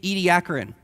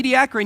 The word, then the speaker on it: Ediacaran: you end up in the ediacaran also an acceptable pronunciation I just want to put that out there and the idiocrine you get these weird